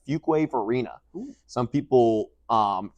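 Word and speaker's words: Fuquay-Varina: Carolina since 2005 lived in a town called fuk wave Arena some people um pronounce it as fuk veren it's yeah no because it's spelled Fu quu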